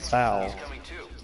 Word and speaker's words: foal: I've always heard people pronounce foal as foul. They're retarded. And that's why you live with veterans. You can pronounce it that way. It's not the proper way to pronounce it, but you can. It's slang.